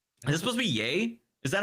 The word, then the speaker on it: Ye: be yay is that how you're supposed to say that like Kanye or is it you it's yay yeah Kevin Sorbo doesn't know any better uh but he's just spelled that way it was spelled the same I thought Yeezys were though like no maybe Yeezy I thought it was yay because Kanye it's just yay yeah that'd make more